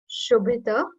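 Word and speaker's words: क्षुभित: When you'll join it, like both the words, so you'll be like when we pronounce it, K is silent, but when you will join both the words, so it would be Ambho Nidhok Shubhita.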